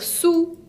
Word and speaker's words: sous: Et pour dire sous, debajo, tiene una S final que no se pronuncia.